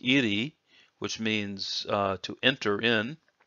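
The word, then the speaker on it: 入: This part by itself is pronounced iri, which means to enter in.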